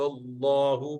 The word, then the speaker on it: الله: فَلَمَّا أَضَاءَتْ مَا حَوْلَهُ ذَهَبَ اللَّهُ بِنُورِهِمْ. ذهب الله بنورهم. The love of Jalala, Lam of Allah, is pronounced with full mouth.